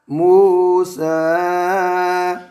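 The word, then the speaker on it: موسى: वइज़ क़ाल मूसा। बच्चों इसमें या जो है ना सीन के साथ वो साइलेंट है।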